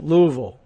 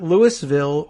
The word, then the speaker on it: Louisville: Wednesday night, Jefferson County Public Schools worked with the Louisville Metro Police Department. You like the pronunciation? Louisville, which is not Lewisville or Buuna Vista or anything like that.